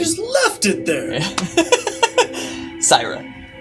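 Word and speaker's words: Syrah: Syra. S-Y-R-A-H. Like Sarah with a twang.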